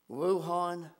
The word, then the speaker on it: Wuhan: few weeks what originated and I believe it's pronounced Wuhan China has now spread to over a hundred